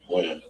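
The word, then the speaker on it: Wynn: Win. Win or Wen?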